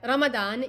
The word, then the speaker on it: Ramadan: letter called lawd and it's just pronounced differently in different islamic languages like zwad or dad